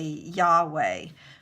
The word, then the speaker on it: Yahweh: So the word Lord in all caps originally would be YHWH, which, we would these days say Yahweh.